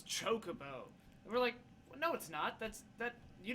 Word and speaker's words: chocobo: with several people that mispronounced the word chocobo it's true everyone they were all saying like Jacobo I think I remember